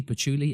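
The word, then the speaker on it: patchouli: h o u l i Puli so woodsy pachuli and precious frankincense with the power to evoke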